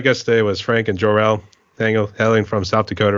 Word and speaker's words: Jorelle: how do you pronounce your name is it jel is that how you pronounce it J yep I'm named after you're